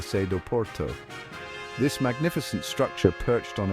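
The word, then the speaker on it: Sé do Porto: the Porto Cathedral or as the locals say the sedo Porto This Magnificent structure perched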